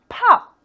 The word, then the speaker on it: pop: pop 할 때요, 앞에 p하고 뒤에 p가 발음이 다릅니다. pop가 아니고요. pop 하면서 약간 끝에 p는 할 듯 말 듯한 상태에서 딱 끊어주시는 거예요.